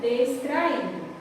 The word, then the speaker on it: distraído: E já na segunda palavra, eu tenho a palavra distraído, certo? Que também é uma paroxítona.